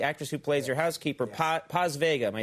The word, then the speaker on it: Paz Vega: Now, in this movie, you have the woman who plays, the actress who plays your housekeeper, Paz Vega.